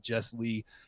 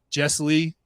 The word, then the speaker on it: Jesslee: so it's funny because everybody always wants to separate it into like two words and I'm like it's